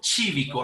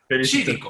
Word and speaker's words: Cívico: Mi invitado es el señor Aldo Chívico, así se pronuncia Aldo, no quiero Exactamente. embarrarla. Chívico.